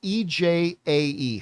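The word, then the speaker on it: Ejae: It's spelled E-J-A-E. Her name's EJ.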